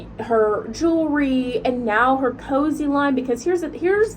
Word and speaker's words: Koze: she took the name literally the name it's cozy and it's not even the way that cozy is spelled by the way is k-o-z-e and then